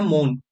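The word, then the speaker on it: mourn: एम ओ यू आर एन मॉर्न नहीं बोलेंगे। इसे बोला जाता है मौन।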